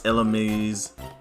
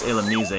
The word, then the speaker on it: Illumise: You know, fun fact about Illumise, you know how long I was mispronouncing that Pokemon's name? I thought it was Illumise. Like, I was calling it everything in the world, and then when I found out it was Illumise, I was like, oh. That's how you say its name. I want to go after that one.